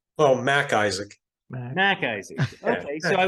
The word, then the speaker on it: Mac Isaac: It's just the pause. I think there's like a subtle pause. Yeah, it's not McIsaac, it's Mac Isaac.